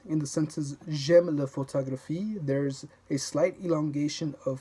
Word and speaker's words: photographie: In French, every syllable is of equal importance in volume and stress, hence the absence of stress syllables. That's something I really had to learn. For example, in the English word photography, you say the second syllable with more force. Photography. But in the French word la photographie, photography, you don't stress any particular syllable.